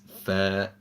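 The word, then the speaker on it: ف: the next letter is fair the letter comes when the bottom edge of the upper front teeth meet the bottom lips similar to the English word farm so one more time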